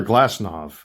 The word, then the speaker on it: Glasnow: Tyler Glasnow, and it's pronounced Glasnow, by the way, not Glasnow. The V in European, the W in European culture is pronounced with a V sound.